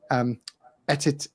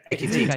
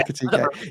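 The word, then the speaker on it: Ekitiké: Etit. I'm going to pronounce the name wrong. Ekitike. Yes. Yeah. Ekitike.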